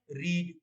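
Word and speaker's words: read: देर पहले आपको बताया प्ले का प्लेड रीड का हो जाएगा रेड लेकिन उसकी स्पेलिंग होगी इसी तरह की आर ई ए डी ही रेड अ book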